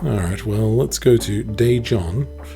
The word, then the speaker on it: Daejeon: Daejeon, okay. Daejeon. Sure. Alright, that's pretty much how I have been pronouncing it.